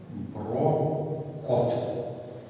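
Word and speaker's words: Brocot: Француз, поэтому он пишется вот так. Брокот. Как сегодня утром говорил, что Фермат пишется с буквой Т и Брокот.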